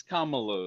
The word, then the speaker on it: Kamala: It's Kamala though, right? It's pronounced like Kama Sutra kind of a deal.